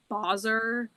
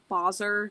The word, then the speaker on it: Basar: No, I know it's it's always uh technically it's Boser.